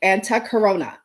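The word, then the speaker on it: Antahkarana: are a n a when she pronounced it I'm telling you it was sad like and tuck her onna but clearly it's spelled much differently okay now what this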